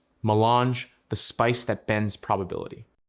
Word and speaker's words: melange: Its formal name is milange, pronounced melange.